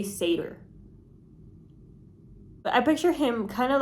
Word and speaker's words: satyr: So I found out that you say it satyr. Satyr? I think it's satyr. So why would you do that? Why would you write S-A-T-Y-R and then say satyr?